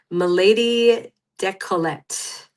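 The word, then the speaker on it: Milady Décolleté: But then the essay shifts and I start talking about a product that I didn't take French, but I believe is pronounced Milady Decollete, the first women's razor.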